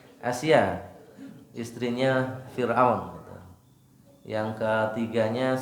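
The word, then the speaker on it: Asiyah: Kemudian yang kedua Masitoh. Asia ya bacanya. Asia, istrinya Fir'aun gitu.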